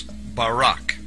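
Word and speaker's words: ברק: the Hebrew word is barak. So lightning, or a flash of light, in Hebrew is pronounced barak or barak.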